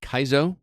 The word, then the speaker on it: Kaizo: Developed by, is it Kaizo? Am I pronouncing that correctly?